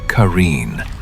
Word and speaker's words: Qareen: But the Qareen, pronounced Qareen, you cannot escape.